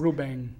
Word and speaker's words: Rubem: It's a funny pronunciation. Portuguese. Rubem. Rubem? It almost sounds like NG at the end.